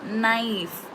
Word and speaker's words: knife: Knife. Okay, K is silent.